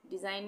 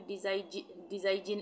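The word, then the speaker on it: design: डिज़ाइन, डिज़ाइन में भी डिज़ाइजिन इस तरह से तो नहीं पढ़ेंगे ना, इसमें हम पढ़ेंगे डिज़ाइन, जी का उच्चारण नहीं होगा।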